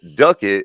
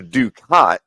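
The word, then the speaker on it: ducat: __ ] right and the Ducket or the dukot as it's spelled du c a t was the main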